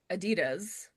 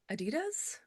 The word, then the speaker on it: Adidas: Um, would you say Adidas or Adidas? Firstly, I say Adid Adidas. Adidas. Adidas.